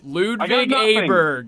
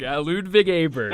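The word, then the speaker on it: Ludvig Åberg: matches for for lud B Bryant got the pronunciation no no no no John no John you have to do this D truck ludig aberg ludig aberg Texas Tech Red Raider no less guns up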